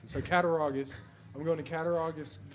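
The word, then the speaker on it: Cattaraugus: I've been trying to figure out how to pronounce it. So, Katarogus.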